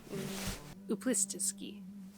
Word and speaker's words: Uplistsikhe: I just forgot how to pronounce this place. Uplist. Uplistsikhe.